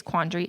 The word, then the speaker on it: quandary: It's like I pronounce the word quandary, but did you know there's an A between the D and the R?